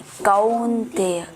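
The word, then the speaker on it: कौन्तेय: अस्तु कौंतेय। Very good. चलो बच्चे पढ़ लिए। कुंती नहीं है, कौंतेय।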